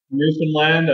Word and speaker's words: Newfoundland: Am I pronouncing it anywhere close? Newfoundland.